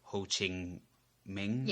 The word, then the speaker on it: Ho Chi Minh: So basically they were allied with the North Vietnam and the troops of Ho Chi Minh, I think. I'm pronouncing that right.